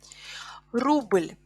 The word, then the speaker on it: рубль: And again, as you can see, the stress in singular is falls on u, рубль, рубль, but in plural, рубли, e is stressed, рубли.